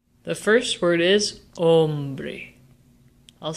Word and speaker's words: hombre: Hombre. Where is the natural emphasis in this word? This word ends in a vowel, which means that the emphasis naturally falls on the second to last syllable.